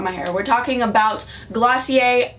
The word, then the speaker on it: Glossier: hair we're talking about glossier I don't know why it's called glossier when it looks like glassy ER but whatever trying to